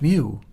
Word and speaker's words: mu: the the Mew symbol that's actually pronounced Mew it's like a kitten's Mew so it could go